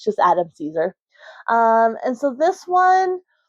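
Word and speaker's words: Cesare: It's just Adam Caesar.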